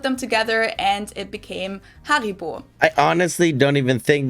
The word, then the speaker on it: Haribo: everyone knew that haribo is actually german we pronounce it haribo haribo and again the name originates in the